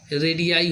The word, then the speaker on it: radii: उसी प्रकार से आगे वाला भी शब्द है रेडियस, वृत्त की त्रिज्या, और बहुवचन बनाने में रेडियाई हो जाता है, RADII हो जाता है।